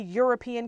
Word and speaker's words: European: is a European country European starts with an E which is a vowel but it sounds for the you you you sound which is a consonant sound it's the Y as consonant sound so a European country and European country